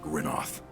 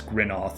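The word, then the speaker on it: Grynoth: foe I of course I got the pronunciation cuz I've been saying Gro this whole time of course I I flipped the coin and I picked the wrong one it's grino got it I did my job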